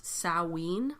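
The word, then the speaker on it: Samhain: or south celtic celtic festival of salween but it's spelled s a.m. h AI n when people would light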